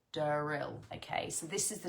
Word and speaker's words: D-rill: spelled dyen r i l l and it's pronounced deril deril okay so this is the name of this